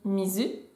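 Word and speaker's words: 水: Si on reprend le kanji de l'eau, là ça me semble essentiel de savoir que l'eau ça se dit mizu, donc on va retenir sa lecture kun.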